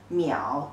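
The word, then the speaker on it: 秒: which means a second the pronunciation is muy ow meow the third tone and this part currently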